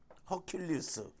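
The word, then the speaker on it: Hercules: 헤라클레스인데 허킬리스 원래 이렇게 이야기하더라고 영어 발음으로.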